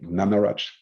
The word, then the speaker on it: Gnanaraj: I can introduce Antony, I'll pronounce it correctly, Gnanaraj. Okay, smiling. I think I'm getting better. No, that's correct.